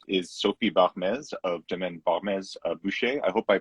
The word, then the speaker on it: Barmès-Buecher: and our guest is Sophie Barmès of Domaine Barmès-Buecher. I hope I pronounced that correctly.